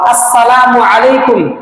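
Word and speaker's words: السلام عليكم: হ্যাঁ, আমরা অবশ্যই সালাম দেওয়ার সময় সুন্নত তরিকায় সালাম দিব, সালামের হামজা এবং মিমের পেশকে স্পষ্ট করে উচ্চারণ করব, আসসালামু আলাইকুম ওয়া রাহমাতুল্লাহি ওয়া বারাকাতুহু।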